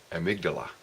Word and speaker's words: amygdala: again Steve here with a few words on amygdala that's how it's pronounced there's apparently two little almond shaped nerve